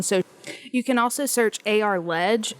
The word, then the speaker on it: ARLEG: You can also search AR Ledge. It's spelled ARLEG on social media as well.